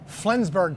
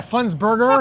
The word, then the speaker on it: Flensburger: they make the best pilsners and this is flinsberg pilsner i think that's how they pronounce it yeah flensburger okay burger okay yeah you picked an easy